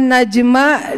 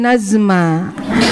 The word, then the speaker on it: Najma: Namanya Najma dipanggilnya jadi Nazma. Padahal huruf J atau jim.